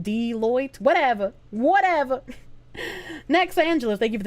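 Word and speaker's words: Deloitte: Foxu lady deote is pronounced deoit.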